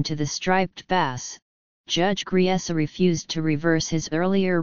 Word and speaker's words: Griesa: In 1981, Judge Griesa, pronounced Griesa, dismissed all the plaintiffs' objections except the one involving the fish study, which he said required a further hearing.